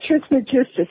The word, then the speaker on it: Trismegistus: also been equated with Hermes Trismegistus, I think is how you pronounce it. Yeah, Trismegistus, Hermes Trismegistus.